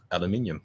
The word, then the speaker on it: aluminium: Aluminium. That's how you say it. That's how you pronounce it.